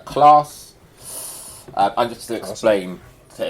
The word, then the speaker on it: Clarss: I have set up my own business called Class. I'm just to explain to everyone, Class. Class is pronounced class, but spelled CLARSS because I like saying first class, different class.